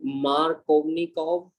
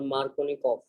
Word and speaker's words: Markovnikov: Or the spelling, you will find two different spelling. Markovnikov, V is there, or Markovnikov. Okay, it is same because it is a Russian name and there are two ways of pronouncing it.